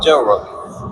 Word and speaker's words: Gel Rock: I was called Gel Rock. Yeah, Gel Rock with a hard G.